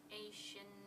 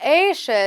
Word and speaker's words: ocean: This is not Asia. It starts with a O, so it's an O sound, okay? Ocean. Ocean, all right?